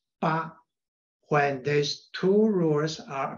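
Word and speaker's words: 父: originally pronounced as ah the character Foo in old Chinese should pronounced as PA when there's two rules are applied in the pronunciation of Foo therefore we can understand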